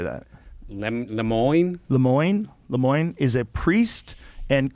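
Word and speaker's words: Lemoine: Lemoyne.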